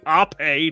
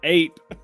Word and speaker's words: Ape: out of the Asian which is apparently ope not ape or AP op is that how you pronounce it I said it was